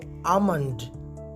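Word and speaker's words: almond: आमंड, बाज लोग इसे आलमंड पढ़ते हैं, जबकि यहाँ लेटर एल साइलेंट है, यानी ये खामोश है, इसे नहीं पढ़ा जाता, लिहाजा आपने इसे आमंड आमंड प्रोनाउंस करना है।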